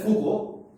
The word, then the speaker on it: Foucault: So it's written as Foucault. I mean, if you write as a verbose English, but it's termed as Foucault, or the pronunciation is Foucault in French.